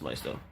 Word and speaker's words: Maisto: And that the Marvel Legends is about the same size as this Maisto. That's how it's pronounced.